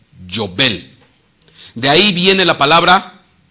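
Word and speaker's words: יובל: Cuerno de carnero en hebreo se pronuncia Yobel.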